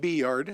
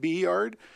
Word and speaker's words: B-Yard: And speaking of B-Yard, I know some people pronounce it Byard and others pronounce it B-Yard. I call it B-Yard because it likely was the site of the railroad A-Yard and B-Yard.